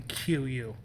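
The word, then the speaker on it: queue: him once he's in QU, right? And that's really pronounced Q, but yes. they shouldn't put the next U, right? It's spelled Q-U-E-U-E. To me, figure it out, put only the one.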